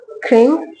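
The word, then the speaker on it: क्रीं: है मंत्र है ओम क्रीम कालिकाय नमः बेसिकली इसका जो एग्जैक्ट प्रोनाउंसिएशन है वो ऐसा है एक वो कुछ इस प्रकार है ओम कम कालिकाय नमः ओम क्रिंग कालिकाय नमः जो स्क्रीन पे भी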